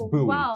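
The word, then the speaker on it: Boise: just stuttered over all the sports also it's buoy state by the way it's buoy State that's crazy because you said Mandy all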